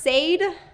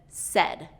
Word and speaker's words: said: It should be pronounced said because of the spelling, and most of my students will say it this way, but native speakers will pronounce it as said.